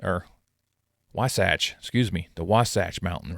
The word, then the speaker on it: Wasatch: Within the mark are nods to the state, including the Wasatach or Wasatch, excuse me, the Wasach mountain range.